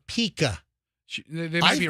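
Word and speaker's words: pica: fraternity house isn't it I thought it was Pika so go to m-w and type in Pike a p-i-c-a is how you pronounce it okay go to that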